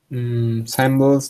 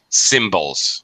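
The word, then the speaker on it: cymbals: So there you go woodwinds and our final category symbols drum uh timony and triangle. All right. Percussion percussion. Yeah. Okay. Symbols. A little shorter I sound. symbols.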